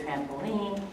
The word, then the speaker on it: trampoline: So pronunciation-wise, the tricky part here is that the I with the N is not I, but in this word, trampoline, is E.